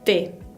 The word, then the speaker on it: té: Después tenemos la E con acento agudo, l'accent aigu, que se pronuncia E, una E abierta, como la E del español. E. Por ejemplo, la palabra té, que significa té también.